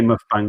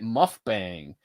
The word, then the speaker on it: mukbang: I keep calling it muff bang. Is it It's mukbang. mukbang?